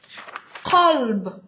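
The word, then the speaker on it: قلب: So, qalb, heart, kalb, dog. Okay? That's why you really have to be careful on pronouncing the correct type version of the letter.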